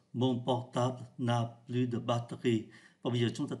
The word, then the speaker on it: batterie: Danh từ batterie được phát âm thành hai âm tiết. Chúng ta không phát âm ký tự ở giữa. Thay vì đọc là battery, thì người ta phát âm là batterie.